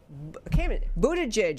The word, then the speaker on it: Buttigieg: Voters should not reward Buttigieg is how you say his name.